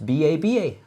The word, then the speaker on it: Baba: It's B-A-B-A, Baba.